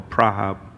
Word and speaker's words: Praha: Is it Prague or Praha? Yeah. All right, both are correct in other words, right?